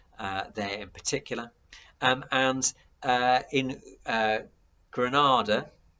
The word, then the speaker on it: Grenada: And in Grenada, the Caribbean islands, which is pronounced very similarly to the Spanish city, they actually invade Grenada in 1983.